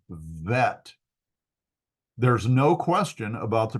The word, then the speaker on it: vet: The second consonant in the second example, the right one, is a Vet, and is pronounced as a V.